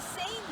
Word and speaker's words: seine: It rhymes with strain, and I know you know what strain means. When you make pasta, you strain out all the water. So this is the seine net, and it does the same kind of thing.